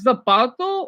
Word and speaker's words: zapato: That's how you spell it in Spanish, but the way you pronounce it, the Z is with an S.